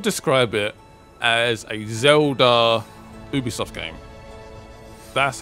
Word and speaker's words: Ubisoft: It is actually pronounced Ubisoft. The French. The French.